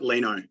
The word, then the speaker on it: Lino: I've been pronouncing it Lino, but is it Lino? Yeah, no, you got it right, Lino.